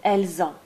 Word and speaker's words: elles ont: You'll see that in this last or second column, you always pronounce a Z between the S and the A. Nous avons, vous avez, ils ont, elles ont. This is called liaison.